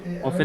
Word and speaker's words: often: often এর উচ্চারণ চার ভাবে করা যায়, চারোটাই standard. often, often, often, often, ঠিক আছে? চারটাই সঠিক এবং মানে স্ট্যান্ডার্ড স্ট্যান্ডার্ড বলেই সঠিক।